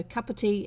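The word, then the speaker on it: kaputī: So kaputi is cup of tea. So this is your keep cup. That's the loan word used for keep cup. But with Maori spelling and pronunciation applied to it.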